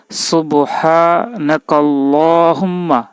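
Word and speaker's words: سبحانك اللهم: এবং এর অর্থ জানবো সুবহান আল্লাহুম্মা আবার দেখুন সুবহানাকা আল্লাহুম্মা হে আল্লাহ আমি আপনার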